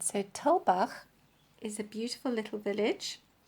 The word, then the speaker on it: Tulbagh: odd spelling, Tulbagh, and I can imagine that quite a few people will be pronouncing it TULBAGH or TULBAGH or something like that. But here in South Africa, it's TULBAGH, and then you have the on the GH, as if you're clearing your throat.